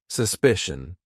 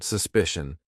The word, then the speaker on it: suspicion: And you can see here these are c i a n, but this one at the end is c i o n, but it's still the same. Shun politician suspicion.